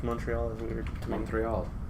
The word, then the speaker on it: Montreal: Because I say it like Ezio says it in Assassin's Creed Brotherhood. Montreal.